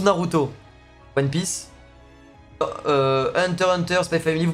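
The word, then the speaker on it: SPY×FAMILY: vous dis les gars c'est officiel le X ne se prononce pas en fait vraiment après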